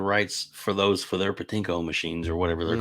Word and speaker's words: pachinko: still maintain the rights for those for their patinco machines or whatever they're called pachinko how we pronounce it but the you know but maybe